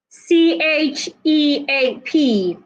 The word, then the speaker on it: cheap: I have the word CHEAP. The word is pronounced cheap, cheap. Put your teeth together and release the sound. Ch, ch, ch. That is the sound of CH.